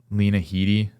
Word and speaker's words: Lena Headey: I kept watching, and I think it's like 6 episodes, and like Lena Headey, that's how you say her name, she's in there.